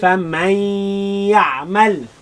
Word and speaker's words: فمن يعمل: pronounce the mim fatha ma, but the noon goes into the ya. فمن يع. فمن يع. ميم فتحة لام مل. ميم فتحة لام مل. فمن يعمل.